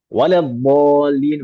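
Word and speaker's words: ولا الضالين: Waladhdallin harusnya pakai dhad lalu dibaca pakai dha.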